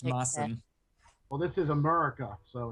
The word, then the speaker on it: Maessen: Interesting fact about CollinMaessen is that it's not pronounced CollinMaessen, is it? No. No, everybody gets it wrong, including me. So, just for the record, it's pronounced Maassen.